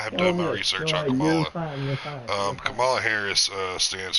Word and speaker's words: Kamala: And from what I hear over on those two with her, Kamala, however you pronounce it. Kamala.